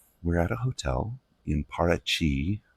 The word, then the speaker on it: Paraty: Now, we're at a hotel in Parachi. It's spelled P A R A T Y in Portuguese.